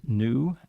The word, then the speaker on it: NXU: from new nxu the the x is silent and the x is actually an infinity symbol I found out oh okay but uh it is pronounced new and uh these are